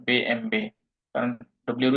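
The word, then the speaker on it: BMW: Audi বিএম W Mary's বিএমডব্লিউ কে জার্মানরা বলে বে এম বে কারণ ডব্লিউ এর উচ্চারণ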